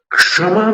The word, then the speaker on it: क्षमा: और क्षमा में फिर षटकोण वाला श आएगा, क्षमा वाले श में, क्षमा, क्षमा। फिर जीभ को ऊपर ले जाना, क्षमा, ये उसका उच्चारण होगा।